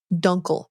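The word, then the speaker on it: Dunkle: finding dead dun osus duncle duncle OAS it's very important we must say it correctly oh I said dunas didn't I yeah it's duncle it's named after a guy's last name duncle okay dun Aus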